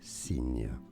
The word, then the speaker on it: Cygne: Cygne. Cygne. It would be the same pronunciation as a sign, but a different spelling.